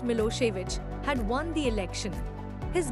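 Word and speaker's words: Milošević: A narrow-minded Serb nationalist Milosevic, pronounced Milosevic, had won the election.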